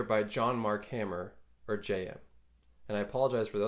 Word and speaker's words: Jayem: John Mark hammer or JM and I apologize for the other videos I mispronounce his name it's JM not Yim the way of Mastery